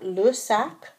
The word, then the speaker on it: les: The le instead of the les is telling you whether it is singular or plural. So that pronunciation, that difference in how you say le and les is very important.